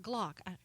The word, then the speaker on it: Glock: It rhymes with clock. Oh, yeah, Glock.